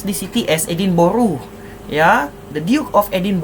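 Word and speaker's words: Edinburgh: putih if people from London actually they actually pronounce the city as Edin Boru. Ya, the Duke of Edin Boru. Tapi ejaan ya Edinbg. Edin Boru ke Edinburg K is the same thing lah. Edin Boro is actually one of the cities in in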